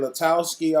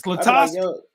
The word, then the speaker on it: LaTosque: Because I get people saying LaTosque all the time, and it's LaTosque.